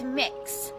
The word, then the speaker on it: Mix: name is mix K it's mix so kind of like cookie mix or mixing bowl that sort of thing that's how it's pronounced so I'm not allowed